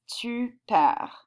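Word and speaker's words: tu perds: We pronounce this tu per, okay?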